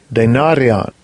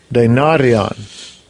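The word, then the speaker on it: δηνάριον: Let me do the pronunciation. Strong's G 1220. Denarian. Denarian.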